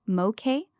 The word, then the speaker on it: Moke: Tropical Storm Moke, pronounced Moke, formed Friday and is the primary near-term weather concern for Hawaii.